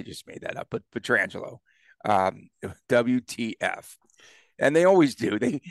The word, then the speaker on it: Pietrangelo: All national broadcasts mispronouncing Alex Pietrangelo. No, I just made that up, but Pietrangelo.